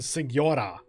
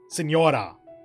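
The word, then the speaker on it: Signora: most are child and sigura senora i keep wanting to pronounce the g because i think they do in the in the actual game but then we've also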